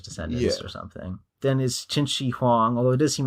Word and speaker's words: Qin Shi Huang: Then is Qin Shi Huang, although it does seem like he pronounces it Kin, so I guess he didn't look up the pronunciation that deeply.